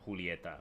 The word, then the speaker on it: Julieta: was the time when people corrected me that i should be could pronounce Julieta but whatever romeo and